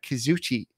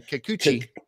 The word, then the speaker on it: Kikuchi: to be old friend former mariner uh uh kazuchi i can never say his name kikuchi yeah kikuchi yeah versus luis garcia and so